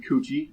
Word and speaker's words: Cucci: Lauren Cucci, and thank you, Lauren, for adding that's pronounced like Gucci.